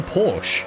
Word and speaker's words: Porsche: is currently worth American saying Porsche actually annoys It annoys me doing well. It's a Porsche. It's a Porsche. It's one syllable like a Porsche, but you have a list.